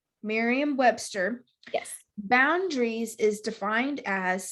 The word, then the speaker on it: Merriam-Webster: Merriam-Webster. Merriam-Webster.